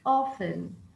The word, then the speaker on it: often: Often. Atenção que não se pronuncia o T. Often.